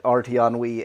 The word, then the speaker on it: RTEnnui: uh the system that rton Wii aims to replace and to rhyme with RTC it's RT on Wii so it it does